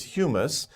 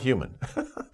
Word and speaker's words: humus: humus the pronunciation is humus sometimes people get a little confused about that but humus think about another word that's pronounced very similarly but is a different word human but this is humus